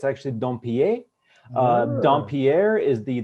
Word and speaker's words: Dompier: yeah so growing up a lot of teachers just butchered my last name pronounced it domper and a bunch of stuff like that yes that's terrible it's terri it hurt but you know growing up we just we just said don pierre because it was just